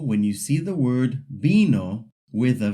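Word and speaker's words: vino: So, when you see the word bino with a V, you actually pronounce it like it has a B.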